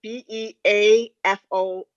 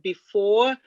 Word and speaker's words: Beafor: Yeah, it was called Beafor, so BEAFOR. So you could almost call it before, or it could be Beafor, like be a force, be a fortress.